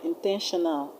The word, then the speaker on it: intentional: I told you in the previous video that when a word ends in AL, you should stress the third syllable from the end. And the third syllable from the end of the word intentional is 10.